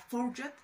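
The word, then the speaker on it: fougère: representar a la familia Fourgette. A veces se escribe Fougere, o más bien creo que así se escribe, pero se pronuncia Fourgette, es algo extraño, y es Navigo Home.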